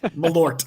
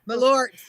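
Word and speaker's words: Malört: Malort. Okay. Malort.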